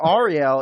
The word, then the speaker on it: Ariel: been saying it wrong i think ariel is usually uh for male because it's short for ahri or it's like that's the extent did i mispronounce your first and last name so you didn't pronounce my mispronounced my first name because everybody says it different that's totally fine i usually say ariel but that's just i